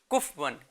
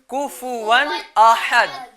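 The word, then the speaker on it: كُفُوًا أَحَد: یہاں پر ہوتی ہے, اس کو پڑھتے ہیں فا ہے نا, فا اصل تلفظ کیا ہے؟ کفون. کیا ہے بچوں؟ ہاں اس کو کاف فا کو ساکن کر دیتے ہیں. کیا کر دیتے ہیں؟ جیسے کفون. کیا کرتے ہیں؟ کفون. یہ کیا ہے؟ غلطی ہے. غلط ہے. صحیح تلفظ کیا ہے پیارے بچوں؟ کفون احد.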